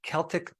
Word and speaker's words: Celtic: Himalayan sea salt uh Celtic or you might pronounce it Celtic Sea salt and other